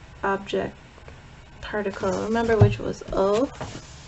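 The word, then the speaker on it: を: Remember which was O? O. That's our direct object particle. We write it in Romaji. It's written as wo, but the W is silent. So don't, it's said as O, pronounced like O, right?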